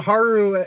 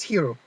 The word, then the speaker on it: Hiro: Yeah, the Haru hero. I keep calling him Haru, which is a completely different character. It's Hiro. Hero technically it's spelled, but Hiro.